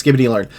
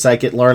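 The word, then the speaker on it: scikit-learn: AI, Python, R, C++, Cloud, SQL, TensorFlow, PyTorch, Skibbity Learn, Pandas, Numpai, Langchain, Rack, and yes, I know it is Psychitlearn.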